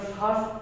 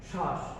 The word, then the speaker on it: শ্বাস: যেমন আমরা শ্বাস একটি শব্দ রয়েছে, এই শ্বাস শব্দটিতে আমরা ব ফলার উচ্চারণ করছি না। শ্বাস, স্বাদ রয়েছে, স্বাদের ক্ষেত্রেও